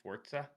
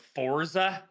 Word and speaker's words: Forza: it wrong is it is it forza it's sports it's italian and well i was going to say this is america i'm western canadian so i call it forza because i'm from bc